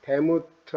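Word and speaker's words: דמות: 모양은 데무트 아니면 드무트입니다.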